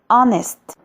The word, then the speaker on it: honest: This H is silent. So the beginning sound is a hour. يبقى هقول an hour. زيها كلمة honest يعني أمين.